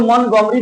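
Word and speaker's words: Montgomery: बहुत लोग मोंटगोमरी भी बोलते हैं, टी को साइलेंट कर देते हैं, लेकिन मोंटगोमरी बस बाइकॉट।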